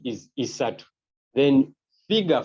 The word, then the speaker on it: isatu: You pronounce it as isatu.